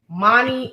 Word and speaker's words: Moni: Moni, okay. Oh gosh, Moni rhymes with Tony.